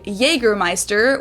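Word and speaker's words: Jägermeister: Oh, usually say Jergermeister, which is pretty much the same, just with a pretty thick accent.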